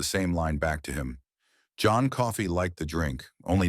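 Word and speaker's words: John Coffey: My name's John Coffee. Like the drink only not spelled the same.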